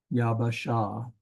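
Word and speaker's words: יבשה: when you consider that this bait is doubled like this over here we have yab baah sha yabasha that's how you would pronounce it but when you say it fast enough yabasha you don't necessarily detect that there's two B sounds in there two baits in there but when it comes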